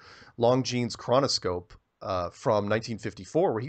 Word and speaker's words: Longines: Watch the Longines. Pronounced that wrong. Longines chronoscope from 1954, where he goes on national